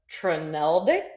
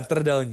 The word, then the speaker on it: trdelník: delicious dessert of my life, which is a trneldik. Does that sound right? Oh yeah, trdelník.